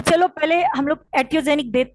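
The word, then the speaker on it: iatrogenic: इट्स एटियोजेनिक, आई इज a silent, so एटियोजेनिक death.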